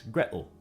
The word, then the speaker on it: Gretel: we should note that the tea in water as well as the tea in gretel is generally pronounced as a glottal stop in cockney english so while in some